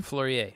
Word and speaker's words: Fleurier: Is that how you pronounce it correctly? Fleurier.